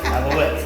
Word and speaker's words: Alouette: I guess it's not cream cheese, but it's a spreadable cheese called alouettes. I think that's how I you gave pronounce that it. to you because I wasn't going to do it. Yes, alouettes. That's it.